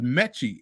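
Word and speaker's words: Metchie: I forgot how he butchered his last name, but it was like he said, and the guy Cardi said, "Oh, it's Mechie," and I'm like, man, so have you never heard John Mechie before?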